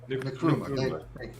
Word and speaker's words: Nkrumah: 1949, Kwame Nkrumah, or Nkrumah, I can't pronounce that really. Nkrumah.